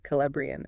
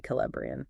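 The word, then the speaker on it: Celebrían: The article mentions one other person, Calbrian. Calbrian. Okay, another K sound for that C. Calbrian, right?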